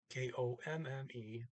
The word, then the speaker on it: kom: that iron comb huh not quite the usual you didn't just e he also got rid of one of the m's so it's just kom i came yeah i